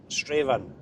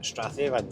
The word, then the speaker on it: Strathaven: See the amount of people that have corrected me on things like Straven. It's spelled Strathaven. That's just what I called it, Strathaven. So, oh, Straven. Sorry.